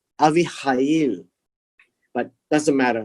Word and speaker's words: Abihail: the turn came for Esther, the daughter of Abihail, the uncle of Mordecai. So Abihail would be the uncle. So the father's brother. So Abihail is the father's brother's daughter, right? It is pronounced as Avihail, Avihail, but doesn't matter, right?